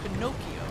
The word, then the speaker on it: Pinocchio: For example, Pinocchio is pronounced with a hard K.